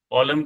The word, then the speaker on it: column: लिखो, कॉलम के स्पेलिंग क्या है, लास्ट में एन भी है, एन साइलेंट है, कॉलम, रो लिखो कॉपी में।